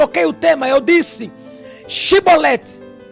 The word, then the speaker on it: Chibolete: Primeiro porque se a pessoa não pronunciasse direito a palavra Shibolete, ele era morto.